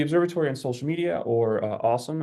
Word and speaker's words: OSoMe: on social media or awesome as the acronym is pronounced is a joint project